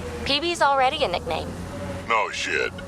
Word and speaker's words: Peebee: Your name rhymes with sightsee, gutsy. Peebee's already a nickname.